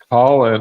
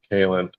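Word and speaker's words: Kahlan: ill means so uh colin all right i'm sorry it's not colin kaelin in this this new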